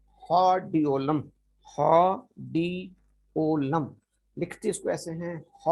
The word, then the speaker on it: Hordeolum: लेकिन इसको प्रोनाउंस ऐसे किया जाता है, इसको हा पढ़ा जाता है, HAW, हा। हा। आर साइलेंट है, उसके बाद फिर डी।